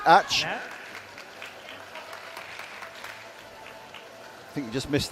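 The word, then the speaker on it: Ács: Yep, it's spelled ACS, but it is pronounced Ach.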